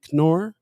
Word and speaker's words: Knorr: says good morning knorr says good morning did i say it right this time yeah the k is not silent k is not silent